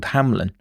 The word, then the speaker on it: Hamlen: The following week the jury would hear the voice of Matthew Hamlen (pronunciation: Ham-lin), who still hadn’t spoken at the trial.